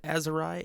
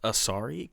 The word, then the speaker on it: Asari: is editing Brandon apparently it's not pronounced azerai it's pronounced asari because my bad but